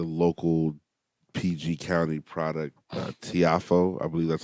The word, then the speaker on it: Tiafoe: got uh the local pg county product uh tiafoe i believe that's how you pronounce it francis francis tiafoe yeah so he